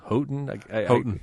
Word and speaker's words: Houghton: Houghton. Yeah, they pronounce it Houghton, I believe.